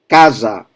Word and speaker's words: casa: So, for example, with the a, open a, casa. So, ca is the strong syllable for house, casa. And it's interesting because when you have two vowels and the S in between, the sound is Z, casa.